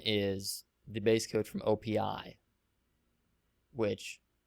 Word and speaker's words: OPI: the base code from OPI which some people pronounce as op but I think it's OPI and OPI is all